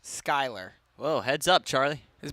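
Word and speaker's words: Schuyler: avoid an offsides call offloaded to Sher freck Skyler excuse me spelled s c hu y l e r but pronounced Skyler whoa heads up Charlie his Ball's coming over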